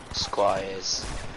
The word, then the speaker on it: Squires: Squires.